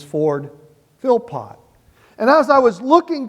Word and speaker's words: Philpott: of Lexington, Kentucky named Ford Philpott. Now I messed up the pronunciation of that. I called it Flippo because there are some people that they spell that and they say Flippo.